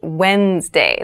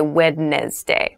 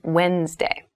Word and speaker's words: Wednesday: mind this is pronounced Wednesday There's a d there but we don't say wedness day we we say Wednesday Wednesday the 18th Wednesday